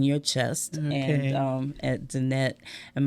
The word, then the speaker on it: Danette: And at Danette. And my name is spelled DAN, like Dan, ETTE.